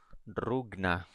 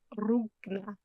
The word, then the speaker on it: Rugna: and directed by Demian Rugna. Is that how you say his name? Rugna. Rugna. Gotta roll those R's, man.